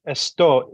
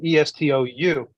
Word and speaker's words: estou: Well, and in Portuguese it's estou, estou. And what happens is they, instead of saying esto, they just say do, like Yeah, doi, do.